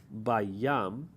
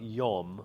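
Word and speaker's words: בַּיָּם: Sa'ar gadol bayam, as not yom.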